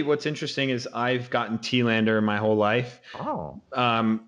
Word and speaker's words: Telander: interesting is i've gotten tealander my whole life oh um but tillander is actually a more accurate representation of like the swedish word it's swedish last name